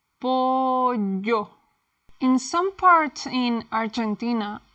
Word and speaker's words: pollo: Double L, the Spanish Y. In Latin America, we say it like the English Y in yes.